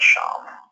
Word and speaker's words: Sham: Sham. Like think of Sean. Sean, right? But Sham with an M.